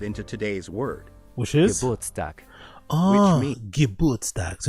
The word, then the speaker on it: Geburtstag: Geburtstag. Which means Geburtstag. So it's not Gerbertstag, it's not Geburtstag, it's Geburtstag. Means the day on which one is born.